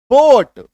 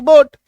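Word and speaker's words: boat: काटो ना ए को अब पढ़ो बी ओ टी बोट आई बात समझ में सी ओ ए टी कोट सी ओ टी कोट आर ओ डी आर ओ ए D road T ओ ए टी कोट एस ओ ए P stop ए को काटने के बाद समझ में आ रहा है कि ए का उच्चारण यहां पे नहीं हो रहा है।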